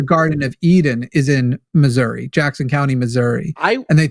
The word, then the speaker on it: Missouri: It's pronounced Missouri. Missouri. Is that a reference to American Dad? Salt Lake City, Missouri. No, it's just how people say Missouri that are from Missouri.